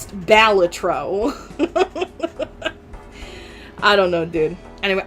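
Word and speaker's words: Balatro: Like, do you say it bolatro? So do I. But apparently the dev doesn't like it when people call it bolatro because according to him it's pronounced balletro.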